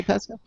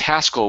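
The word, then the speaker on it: Haskell: Pascal did you say Pascal oh no it's it's hascal which is spelled h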